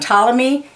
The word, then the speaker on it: Ptolemy: Yeah, the P is not sounded, it's silent. And the silent P on Ptolemy, and psychic, and pterodactyl again. And psoriasis.